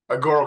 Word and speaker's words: Agoro: Agoro Carbon Alliance, the long version, but Agoro is a good way to go too.